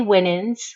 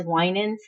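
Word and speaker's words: Winans: I looked it up there are some people that say winin which to me would be 2 n w NN but she she spelled it her name is spelled w n NS and so I look at it as winin I've done research and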